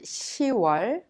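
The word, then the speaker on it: 시월: 26th is pronounced ishim since october is pronounced shiwar when you say october 21st you say shiwar please remember you are and shiva are differently pronounced unlike the other names of the month let's practice it together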